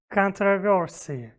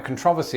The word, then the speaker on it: controversy: on the back of that comment we arrived controversy but a very relevant word you see there's been quite a controversy online about how brits and americans pronounce this